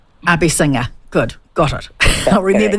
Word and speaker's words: Abeysinghe: it oh that's okay look it's a hard name I married into it so I chose it I don't expect everybody to be able to pronounce it but it is a basing her Abby singer good got it I'll